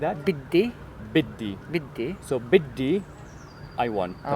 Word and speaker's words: بدي: Biddi.